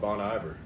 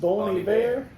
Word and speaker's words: Bon Iver: It's whenever we thought they were called Bon Iver. Yep. So it's French. It's pronounced Bon Iver.